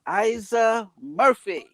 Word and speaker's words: Eiza Murphy: the building she goes by the name of isa murphy am i pronouncing that correctly you are but everyone asked